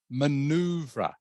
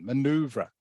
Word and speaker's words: maneuver: the word is pronounced maneuver everyone maneuver maneuver okay as you can maybe tell from the spelling it is French it's a French word that English has borrowed okay and maneuver means